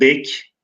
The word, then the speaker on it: bey: Çünkü bey kelimesi günümüzde bey, y ile telaffuz edilirken Osmanlı'da bek, bey, yumuşak g veya bek daha eski dönemde de bek şeklinde telaffuz ediliyormuş. Onun için yazımı olduğu gibi kalmış. Fakat telaffuzu günümüzde bey.